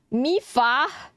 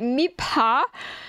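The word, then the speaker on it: Mipha: Mifa. Oh, dude, you know why it fucks me up? Because I'm trying to pronounce it as like M-I-P, right? I'm trying to like Mipa.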